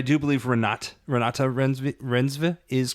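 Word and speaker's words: Reinsve: I've heard Ranata Renvi. Uh very pretty name to say. She has corrected that it is Ratat Renva is the correct way to say her last name.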